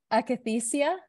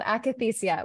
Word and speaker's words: Akathisia: perhaps mispronounce this, but I'm going to give it a good solid try, Akathisia. Yeah, that's correct. Okay, it's called Akathisia.